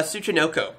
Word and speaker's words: Tsuchinoko: danger snake basically danger Tsuchinoko I believe is how you pronounce it yeah it's a snake